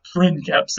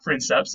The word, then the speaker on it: princeps: Now, in Latin, C's are always hard, like a K sound, so this would have been pronounced princeps and not princeps, even though it looks like princeps, okay?